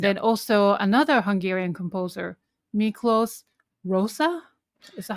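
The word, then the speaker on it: Miklós Rózsa: And then also another Hungarian composer, Miklos Rosa? Is that how you pronounce it?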